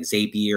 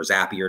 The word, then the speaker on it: Zapier: So you're going to have like services like Zapier or Zapier, depending on how you pronounce it.